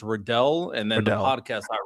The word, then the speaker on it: Radell: Um and to pronounce my name, it's Rodel and then the podcast I run is Purple Political Breakdown.